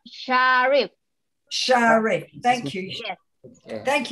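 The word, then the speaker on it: Syarif: It's S-Y-A... R-I-F, Sharif.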